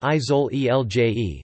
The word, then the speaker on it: Isole Eolie: The Aeolian Islands, Italian, Isole Aeoli, pronounced Isole Elje, Sicilian, Isouli Eoli, Greek, Aeolides Nessoi, Aeolides Nissoi,